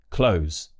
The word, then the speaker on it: clothes: Maybe I've taught you this tip before, but just say close, like close the door.